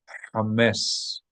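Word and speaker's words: חמץ: It's better if you're not going to pronounce it in the proper way, which you can with practice, but I know it's difficult. In the meantime, it's better to pronounce it like an H, knowing that it's not exact, than to pronounce it as a kha.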